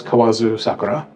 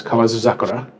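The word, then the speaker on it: 河津桜: yoyogi park also has Kazu zakura yeah I think it becomes kawazu zakura yeah when you say it right yogi park also has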